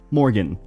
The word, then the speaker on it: Morg: We usually go by Morg, and it's not M-O-R-G, it's not M-O-R. It's usually just how they spell it. Yeah. Yeah, they just take off the A-N. Yeah. How do we do it? Like the city morgue. Like the dead people morgue.